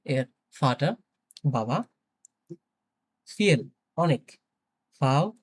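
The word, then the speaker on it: viel: ফিয়েল অনেক।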